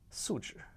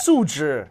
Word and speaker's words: 素质: 素质. 你有没有素质? Yeah. Can you say that? But but you make it sound like 你有没有数字, which is like numbers. I gotta. Yeah. 素质.